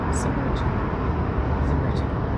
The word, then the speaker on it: Zymurgy: Zymurgy. It rhymes with energy. I remember them saying that. Okay. Or seeing it somewhere. Somewhere. Yeah. Yeah. Rhymes with energy. Zymurgy.